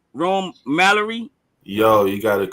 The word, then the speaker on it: Rome Mallory: Am I pronouncing your name right? Rome Mallory.